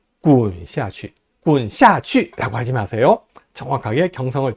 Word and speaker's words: 滚下去: 滚下去, 滚下去라고 하면 됩니다. 복합 방향보어는요, 두 개 다 경성으로 발음해요. 滚을 제대로 발음하고 下去를 약하게 발음한다라는 얘기입니다. 滚下去, 滚下去라고 하지 마세요.